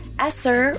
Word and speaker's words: ESSER: fonts okay quick recap esser rhyming with dresser is the funding grant